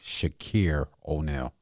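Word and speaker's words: Shaqir O'Neal: I want to pronounce his name correct. Shakir O'Neal.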